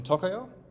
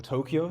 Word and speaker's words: Tokio: And after we finish that, we'll discuss how reading and writing works in Tokio, or Tokio, depending on how you want to pronounce it, as well as how streams and syncs play a role in this.